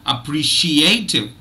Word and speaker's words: appreciative: any uh you know any change then so appreciative appreciative now look at this there has to be two uh stress syllables because you know you can't have I